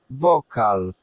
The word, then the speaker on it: wokal: If it sounds like a K, it is a K. So, that's why we've got vocal here. Let's just hear it. wokal wokal All right, and